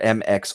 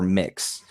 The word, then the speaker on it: MX: right, the official pronunciation is either MX or Mix.